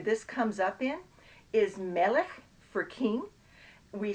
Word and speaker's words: Melech: And if you don't know, you might say Melech. But that's not how it's pronounced. It's Melech. And if you talk about the Negev, it's not Negev, it's Negev.